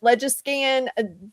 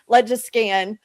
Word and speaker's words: LegiScan: So this is a website called, I call it Legiscan. People pronounce it differently. This may just be my Okie accent coming up, but I call it Legiscan.